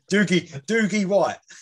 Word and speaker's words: Doogie: The Scottish it rhymes with Boogie. Oh yeah, Doogie White.